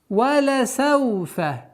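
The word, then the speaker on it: ولسوف: Валя сауфа. Валя сауфа. Мягкое, четкое произношение всех звуков. Валя сауфа. Распространенная ошибка – это когда над лямом делают сукун. Валя сауфа. Но нужно ясно, четко до конца договаривать.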